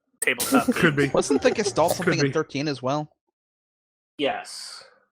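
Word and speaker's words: Gestahl: I mean, you could say that about Emperor Gestalt, too. Gestalt or Gestalt is how you pronounce. It doesn't have an ending T.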